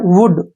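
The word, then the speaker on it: would: ये क्या बन गया वुड डब्लू ओ यू एल डी वुड वुड नहीं है ये वुड क्या पढ़ेंगे इसको वुड वुड का मतलब होता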